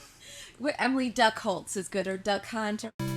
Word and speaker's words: Durchholz: It's so close. It's Duckworth. So, but Oh, you go with the hard C. Okay. Emily Duckworth, we got it. Well, Emily Duckworth is good, or Duck Hunter.